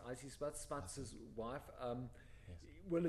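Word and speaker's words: Isie Smuts: And let me guess, from Izzy Smuts herself. From Issy Smuts, I think it's pronounced Issy Smuts, Smuts's wife.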